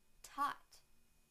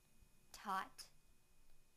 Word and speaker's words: taught: thought now that took sound in the word tot tot tot now I will use them both any